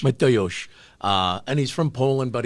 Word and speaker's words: Mateusz: Mateusz. Mateusz.